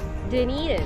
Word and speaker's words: Dunedin: At paano siya i-pronounce? Dunedin.